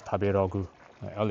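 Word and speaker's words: 食べログ: Um I think one of the food apps that I really like is this uh tablo or in Japan they pronounce it as tabu l is like r uh where the the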